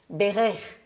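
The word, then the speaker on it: בֵּרֵךְ: The first word has a second syllable accented, so we say berech, which means blessed.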